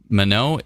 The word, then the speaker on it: Minot: Minot is pronounced Minot. Really?